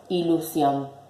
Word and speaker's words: ilusión: Por ejemplo, la palabra ilusión. La separo en sílabas. Ilusión. ¿Cuál es la sílaba que suena más fuerte? Sion, que está en la última posición.